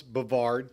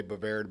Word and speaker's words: Bovaird: My father, it's actually pronounced either way, Bovaird, Bovard. My father, who came here from Pennsylvania, West Virginia, he pronounced it as Bovard. It was easier. People related to it easier because of Brevard County.